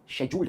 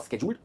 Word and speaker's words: scheduled: और इसकी pronunciation स्केड्यूल्ड नहीं है, स्केड्यूल्ड है, या फिर शेड्यूल्ड है। शेड्यूल्ड एक यूके प्रोनाउंसिएशन है और स्केड्यूल्ड यूएस प्रोनाउंसिएशन है।